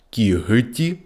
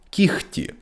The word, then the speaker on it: кігті: час до дзвінкої г вона під час вимови змінюється на глуху Х кігті кігті легко легко у префіксах роз